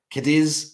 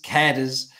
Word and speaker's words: Cadiz: loves when I say when I pronounce certain Ohio place names kidiz Cadiz depending on where you're from uh Canada's Ohio Johnny